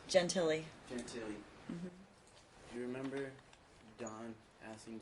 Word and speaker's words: Gentile: you remember don asking judge i'm not a pronunciation my last name jen tilly do you remember don asking judge gentilly to look up the date that the child